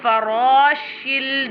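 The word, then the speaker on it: فراش: Yakunun nasu kal farashil. This one ra always pronounced with a thicker voice like this.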